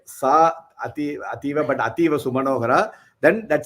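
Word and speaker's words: सा अतीव: But we'll say Sa Ativa Sumanohara, Sa Ativa Sumanohara. Sa means she. She. So that. Ativa means very, very beautiful. So even if you don't say Sa Ativa but Ativa Sumanohara, then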